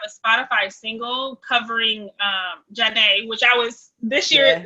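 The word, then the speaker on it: Zhané: spotify single covering um janae which i was this year uh today's years old when i realized it wasn't zayn and it was pronounced janae i never knew that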